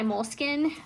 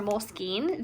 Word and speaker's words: Moleskine: it but it is by moleskin or moleskine depending on how you say it and this is